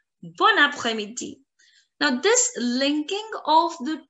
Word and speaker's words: bon après-midi: But if I put a pause in between, bon après-midi, I'm putting a lot of pressure on it. Bon après-midi. I want more, I want fluency. So I'm going to say bon après-midi, bon après-midi.